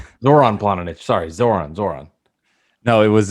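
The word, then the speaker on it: Zoran Planinić: Oh, see, I don't know how to pronounce his name. No, you would. Goran Planic. Zoran Planinic.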